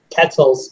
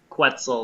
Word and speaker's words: quetzal: know i just say ketzel's but i don't know if that's right in the most americanized way possible i'd say like quetzal like pretzel that's the one yeah that might be how it's pronounced i just don't know